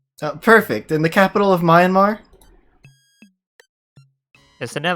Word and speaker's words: Myanmar: marriage is fun to say i'm sorry i'll pronounce it it's myanmar okay and it's all right i'll i have